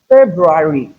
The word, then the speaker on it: February: February. In February, ensure you articulate the R. We have two letter R in the word February.